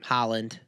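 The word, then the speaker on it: Haaland: And then how do you pronounce Erling's last name? Holland.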